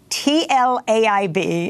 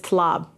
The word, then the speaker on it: Tlaib: Well, it's actually pronounced as if it was in Hebrew. So when it got translated, it got translated in the Hebrew language instead of Tlaib, which is supposed to be T-A-L-E-E-B, instead of Tlaib.